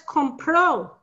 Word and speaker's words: compro: Right, but what's compro? That's he bought or she bought. You're stressing that last O, so that makes it bought. Okay, what's the stress on the first O? Compro is compro. I buy.